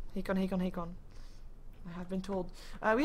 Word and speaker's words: Hakon: And that is indeed how you pronounce that. Hakon. Hakon.